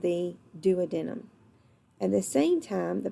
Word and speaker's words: duodenum: intestine called the duodenum there's a lot of different pronunciations of this I learn to just do within them but some professors in college did call it duodenum I think they're both widely accepted alright so the common